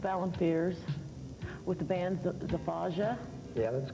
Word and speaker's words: Zafaja: I'd like to introduce Joseph Alan Fears with the band Zafaja. Yeah, that's correct. Okay. That's how it's pronounced.